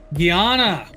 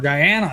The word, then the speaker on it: Guyana: Guyana. Wow. There you go. Or Guyana. I've heard it pronounced both ways.